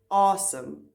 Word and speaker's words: asem: The word for breath, asem in Afrikaans, although you pronounce it with this long A, you spell it with the short A.